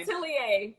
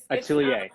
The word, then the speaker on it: Atelier: Atelier. Atelier. It's Okay. French for like design house.